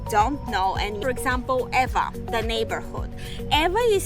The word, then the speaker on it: Ewa: Another thing that people don't know, and for example, Ewa, the neighborhood. Ewa is spelled E-W-A. So if from the US mainland, you pronounce it Ewa. But in Hawaiian language, W in the middle is pronounced V.